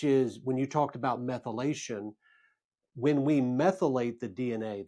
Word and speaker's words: methylation: Methylization. Methylation.